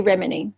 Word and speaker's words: Remini: It comes from Hungary, so I can't even pronounce it properly, but we say Remini, Remini.